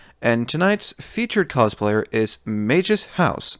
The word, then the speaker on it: Magus: And the Fate series is really where the word is more used, and it is pronounced as Magus in that series. Then there was also another anime that also uses it, so I don't know why people seem to have a problem pronouncing my name properly.